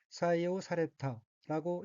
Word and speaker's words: 採用された: 우선 빨간색 줄침 부분을 보면 첫째 줄의 어휘는 한자가 한국어로 채용이고 각기 켈체, 쓸용, 자로 되어 있고 일본어로는 사이에우 사레타라고 읽으며 사이에우 사레타는 채용하다, 채택하다는 뜻의 타동사 사이에우 수루의 수동형 사이에우 사레루 채용되다의 과거형으로 사이에우 사레타는 채용되었다 라는 뜻입니다.